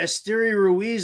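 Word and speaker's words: Esteury Ruiz: you go you just said it right there esteria Ruiz would be the guy who's probably faster than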